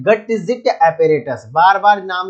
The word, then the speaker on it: Gutzeit: का limit test का apparatus का नाम है गटजिट एपरेटस।